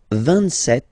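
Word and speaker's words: vingt-sept: pronounce it S, 26, 27, remember set, it was this P disappear, you don't pronounce it, 27, 28, so here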